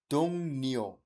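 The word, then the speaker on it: 동료: আমি কিন্তু রিও বলি নাই, রিও কেন বললাম না? ভাচ্চে মিয়ং এর পরে মূল বর্ণ রিউল থাকলে রিউলের উচ্চারণ দন্তান্নর মতো হয়ে যাবে, তাহলে হয়ে যাবে দং নিও।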